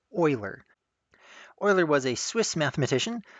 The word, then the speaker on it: Euler: name here this looks like Euler but it's pronounced Euler Euler was a Swiss mathematician living in the